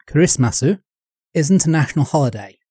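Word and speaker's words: クリスマス: so Christmas in Japan or as it's pronounced in Japanese kism masu isn't a national holiday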